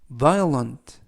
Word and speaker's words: violent: 국가를 대표한다라는 뜻이 되겠습니다 이번 표현은 violent violent violent라고 발음하시면 되겠고요 이때 유의하실 점은 알파벳가 음은 아니지만 연음에 의해서 O 발음이 거의 나지 않습니다 그래서 vient라고 발음하시면 되겠고요는 는 형용사 뜻은 폭력적인이라는